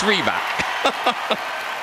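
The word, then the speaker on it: Rybak: Oh, for 12 months I've mispronounced his name. It's Reeba.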